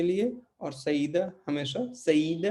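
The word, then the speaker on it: saída: तो ये यहाँ पे ए और आई मिलके आपको अलग अलग इनको नहीं पढ़ना, ये दोनों मिलकर एक अक्षर बन जाते हैं, एक उच्चारण, एक आवाज़ बन जाते हैं। तो हमें इनको पढ़ना है सईदा, ठीक है।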